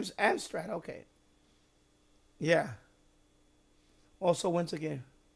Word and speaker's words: Amstrad: So, you had it for the Armstad or the Amstrad. How you pronounce that? I thought it was Armstat or Yeah, Am Amstrad.